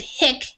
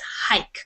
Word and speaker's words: hike: a word in English you would pronounce it hick if it was but since it's not but you do have the E so if I was teaching like my child how to read and I would um say look it has the silent e so you know you say the long I sound so it's hike and in this case